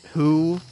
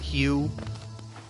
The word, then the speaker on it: Hu: So, his name is meant to be pronounced who, not Hugh.